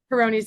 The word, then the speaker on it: Peyronie's: pyron's disease how do you say it peroni's Peyronie's disease so that's because of a actually a